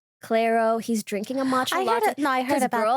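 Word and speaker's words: Clairo: He's listening to is it pronounced Claro? Clero.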